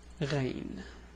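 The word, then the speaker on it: غين: And the name is Ghayn.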